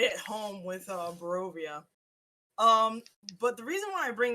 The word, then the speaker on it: Barovia: We played modules from the series of Barovia. If you guys don't know what that is No, God. Ravenloft. Hmm? Say, I know Bravovia.